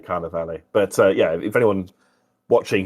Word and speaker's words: Carnivale: I used to call it Carnival, and then an Italian friend said, "Stop doing that." So I now try to make myself say Carnivale.